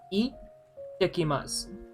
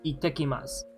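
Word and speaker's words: 行ってきます: Do note the small z there. So it's itekimasu. Itekimasu. Now, when you speak fluently, obviously, to a non-fluent speaker, they can't really tell that there's a small toot there, but it's itekimasu. Itekimasu. The small toot denotes a type of pause, because if you write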